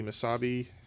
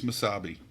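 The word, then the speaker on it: Mesabi: u.s state is the masabi uh iron range i don't know if i'm pronouncing that correctly it's m-e yes it's miss misabi m-e-s-a-b-i i'm locked in with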